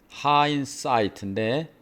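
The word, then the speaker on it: hindsight: 하인 사이트인데 이게 묵음입니다. 하인 사이트.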